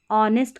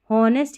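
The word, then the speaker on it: honest: H silent रहता है कुछ स्पेलिंग्स में, जैसे देखिए इसको आवर करके पढ़ेंगे, ऑनेस्ट करके पढ़ेंगे, हॉनेस्ट या आवर नहीं पढ़ रहे हैं, इसको हावर नहीं पढ़ रहे, आवर तो पढ़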